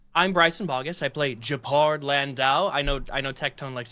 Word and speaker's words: Gepard: It's Japard. Oh, I didn't know that. Yeah. I just thought I thought you were making a goof of it. But I mean, I've heard so many different pronunciations. Even some people will be like Gerald or something like.